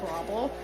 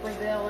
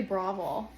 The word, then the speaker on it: Breville: this is an Australian brand so it's actually pronounced brable it does look like Braille or bravil however you would say it um but it's actually bravel um it's an Australian company and they know